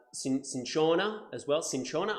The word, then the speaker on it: cinchona: in Shona as well cinchona I think I'm pronouncing that right that's in corner it's the way I've been taught to pronounce it but essentially that is